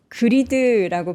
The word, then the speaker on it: greed: 그리드라고 발음을 안 하셔서 못 알아들으셨다라는 분이 계신데 G-R-E-E-D. 그리드. G-R-I-D는 짧게 greed. 네.